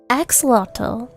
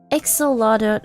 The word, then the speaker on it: axolotl: How to pronounce that name? Axolotl.